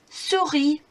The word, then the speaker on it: souris: It's souris, une souris.